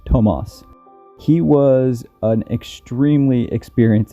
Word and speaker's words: Thomas: and that's how it even though we spell it thomas he was german and he was called tomas he was an extremely